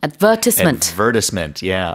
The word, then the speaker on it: advertisement: 영국에서는 advertisement. 강세가 많이 달라요.